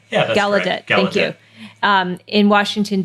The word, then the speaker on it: Gallaudet: it's about um i don't know if i'm pronouncing the name of the university correctly gallaudet gallaudet gallaudet yeah gallaudet thank you um in washington dc that's where